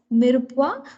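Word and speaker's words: mirepoix: that is called as it is spelled as m-i-r-e-p-o-i-x it's called as mirupwa so mirupwa is nothing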